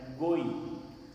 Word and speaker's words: GUI: GUI इज the pronounce like गोई, तो GUI क्या होता है हमारा, जो प्रोनाउंस लगे से गोई होता है।